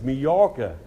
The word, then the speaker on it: Majorca: And the lady said, oh no, she said, the J is silent, it's Majorca.